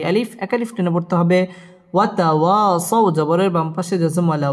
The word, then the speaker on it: وتواصوا: وتواصوا بالصبر وتواصوا بالصبر ওয়াও ঠোঁট গোল করে উচ্চারণ করতে হবে ওয়াতাওয়া জবরের বাম পাশে খালি আলিফ মদের হরফ একালিফ টেনে পড়তে হবে ওয়াতাওয়াসাউ জবরের বাম পাশে জজম ওয়ালা ওয়াও লিনের হরফ তাড়াতাড়ি পড়তে হবে ওয়াতাওয়াসাউ বিস-সাদ তাশদীদ ওয়ালা